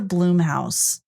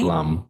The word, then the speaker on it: Blumhouse: Is it Blumhouse or Bloomhouse? It's Blum, right? Blum. Blum. Blum. Yeah. Okay. So, I've been saying it right for years.